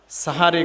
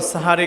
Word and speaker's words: সাহারি: এজন্য সাহারি খাওয়া যদি এ শব্দটিকে আমরা ভুল উচ্চারণ করে থাকি আমরা বলে থাকি সেহেরি সেহের শব্দের শাব্দিক অর্থ হচ্ছে জাদু আর সাহার শব্দের শাব্দিক অর্থ হচ্ছে ভোরের খাবার এজন্য শব্দটি সেহরি নয় বরং শব্দটি সাহারি তাহলে দ্বিতীয় আমল হচ্ছে